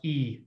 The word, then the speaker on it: aoi: way of teaching people how to pronounce aoi aoi is always pronounced e so ether everyone please